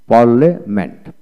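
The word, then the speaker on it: parliament: এখন আসুন, পার্লামেন্ট, পার্লামেন্ট, পার্লামেন্ট এইভাবে উচ্চারিত হয় পার্লামেন্ট।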